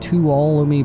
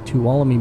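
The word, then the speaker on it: Tuolumne: a big uh area of Meadows it's called two allomi Meadows talami Meadows and it's got like a silent in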